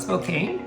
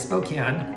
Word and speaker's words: Spokane: Yeah, Spokane on the east side is not Spokane. It is Spokane.